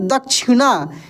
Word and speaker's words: दक्षिणा: है तो कैसे पढ़ेंगे दक्षिणा इस छ में क का उच्चारण होता है क्योंकि ये संयुक्त छ आधा क और मूर्धन्य श के मिलने से बनता है ठीक है तो बोल